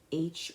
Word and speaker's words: hygge: It's spelled Hygge, and it's pronounced hygge.